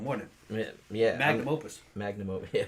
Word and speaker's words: magnum opus: Yeah, that was his magnus opum, wasn't it? Yeah. Magnum opus.